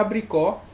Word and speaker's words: abricó: E a abricó, né, toda oxítona aqui, ó, abricó, a última mais forte, né, a sílaba tônica, então a sílaba tônica, a oxítona